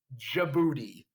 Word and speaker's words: Djibouti: didn't you're probably like wait it starts with the d how do you pronounce it well in english it's djibouti yes there is a